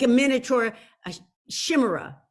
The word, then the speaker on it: Chimera: like a half, I don't know how to pronounce, I should have looked it up, but like a miniature, a chimera.